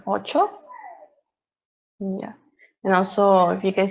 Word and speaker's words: ocho: pronunciation so also so if you see the cnh it's something we pronounce chi so it sounds like ocho and also if you